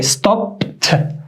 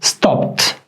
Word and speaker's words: stopped: All these 3 letters that we added, they all are pronounced like t. So we say stopped, stopped, worked, worked, walked.